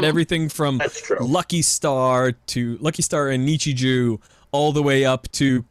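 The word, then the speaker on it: Nichijou: My Everyday Life, otherwise pronounced Nichiju, apparently. Nichiju, right? Nichiju. Joe. Is that how it's pronounced? Yes. J-O-U. I've only ever heard it pronounced Nichiju.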